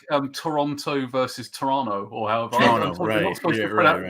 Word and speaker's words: Toronto: a bit like um Toronto versus Toronto or pronounce is it like the second T you you you show you're a tourist if you pronounce the second t or something actually there